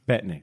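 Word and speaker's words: Bettany: in addition to Elizabeth Olson and Paul bet betan how do you say Paul betney betney thank you so much uh reprising the roles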